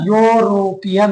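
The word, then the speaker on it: European: अब देखो इसका आवाज निकालेंगे, इसका आवाज निकलेगा यूरोपियन। क्या पढ़ेंगे इसके, यूरोपियन। ई का तो ई साइलेंट है, ई का तो कोई मतलब ही नहीं, यहाँ पर सिर्फ एज ए स्पेलिंग जोड़ रखा है, बाकी इसका कोई फायदा नहीं।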